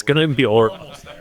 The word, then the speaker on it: Orlok: Olaf?